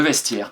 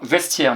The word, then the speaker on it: vestiaire: Vestiaire maintenant. V-E-S, vesti. Attention au piège là, le son est. Le son est, il s'écrit AI. A-I-R-E. Le vestiaire.